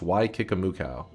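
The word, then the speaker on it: Waikikamukau: I don't even know where the Yeah, in New Zealand there's a place called Wiki Kamuka, which is pronounced Y Kikamuka.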